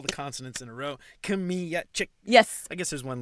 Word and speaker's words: Kmiecik: But you have pronounced the name very well, so really congrats. Yeah, I learned last time. Kmiecik.